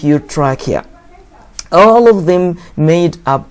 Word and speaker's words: trachea: Trachea. This pronounced K, guys. Don't pronounce it trachea wrong.